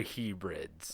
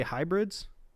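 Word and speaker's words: Hebrides: from the northern outer Hebrids. Are you trying to say hybrids? No, it's H E B R I D S. Hebrids.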